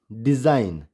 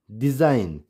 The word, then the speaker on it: design: DESIGN, डिज़ाइन, डिज़ाइन। ALIGN, align. इन सब में क्या है, एन से पहले जी आ रहा है और जी क्या हो गया, साइलेंट हो गया।